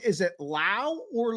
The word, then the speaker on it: Lau: Is it Lau or Law? It is Lau. It's a German name, rhymes with Frau.